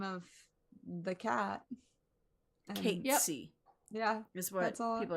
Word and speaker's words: Cait: I've always said Kate Sith. Kate Sith. It could be Cat Sith. It's CAIT. So yeah, it is the name of the cat. Kate.